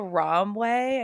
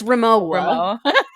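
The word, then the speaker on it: Rimowa: went to he went to a romway I think that's how you say it R ramway the luggage company you know what I'm talking about yes Rim Rima it's Rema yeah okay rooa it's ramoa what is it one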